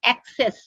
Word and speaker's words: access: i mean as go most mispronounced word i have seen among student is a double s e double s that is access because they cannot make out whether to use first cs go and second cs so they use